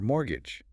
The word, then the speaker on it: mortgage: Then they cover mortgage, explaining it's specifically a loan for buying property, like a house. And then they add that little pronunciation tip, the silent T, practical detail.